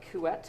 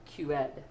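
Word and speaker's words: Couette: type of flow is referred to as uh kuet flow if you want to pronounce it with the English pronunciation or in French which is a French name it's really pronounced more like QED so kuet English QED French uh qet is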